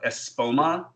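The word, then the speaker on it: Espoma: and so well I'm a big promoter of ESPO ma I pronounce it as its spell ESP oh ma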